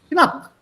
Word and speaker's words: knapp: Here, Geld is knapp. Very, very limited. Very limited. So that's the word here, knapp. And pronounce it with a K, huh?